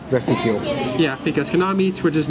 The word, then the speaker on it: Reficule: Well, it's pronounced Reficule.